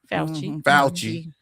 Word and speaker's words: Fauci: Fauci.